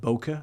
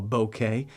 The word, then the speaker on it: bokeh: often refer to this as boka or bokeh depending how you pronounce it but the the Boker